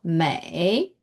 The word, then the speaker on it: 梅: So and are the radicals of may and may are the radicals of may.